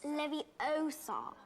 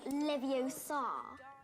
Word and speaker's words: Leviosa: someone's eye out besides you're saying it wrong it's leviosa not leviosa hey i actually didn't